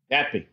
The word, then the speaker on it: NATPE: And it's about the, how do you pronounce the NATPE convention? The NATPE? NATPE.